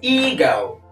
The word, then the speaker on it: ego: not equation number four it's ego ego is a long e sound eag girl and number